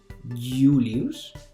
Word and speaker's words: Julius: en estos casos uno al principio de la palabra cuando designa vocal por ejemplo julius esa y se pronunciaría como una j julius o cuando van entre